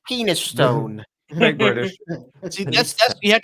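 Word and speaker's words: Penistone: really weird though so how would that be pronounced penise town I don't believe you it's penis Stone British see that's you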